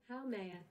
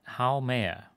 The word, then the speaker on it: Haumea: So this dwarf planet is pronounced... Haumea. Haumea. Haumea. How may I help you tonight? Okay, Haumea. Fair enough. Now we know.